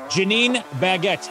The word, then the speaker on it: Janeen Baggette: I have with me today, Janeen Baggette. I bet you I said that right. You did say it right. Awesome. I tell people it's either the diamond or the bread. That's how you pronounce it.